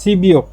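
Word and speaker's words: 십육: সিইউক ইল, সি বিউক ইল, sheep মানে 10 আর ইউক মানে 6, একসাথে উচ্চারণ হবে সিবিওক মানে 16, আর ইল এটা দিনের একক, সিবিওক ইল, তাহলে 16 তারিখ।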